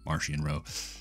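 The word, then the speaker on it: Marchion Ro: eye of the Nill Martian row or Maran row there's a little bit of debate on how that's pronounced but I choose to say Maran row I don't want to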